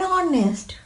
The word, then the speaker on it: honest: Before a word beginning with a silent H, resulting in a vowel sound at the beginning. Examples: an hour, an honest, an honest man, honest, an heir, an honorable man, honorable.